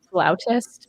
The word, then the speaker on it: flautist: us all know that it's pronounced flautist because I do not